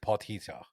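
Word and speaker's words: Potgieter: about it but the the South Africans pronounce it potito like with a kind of an AG if Trevor didn't do that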